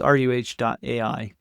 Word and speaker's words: ruh.ai: And it's spelled RUH, at least in English. And so it's ruh.ai is what it is that we're building.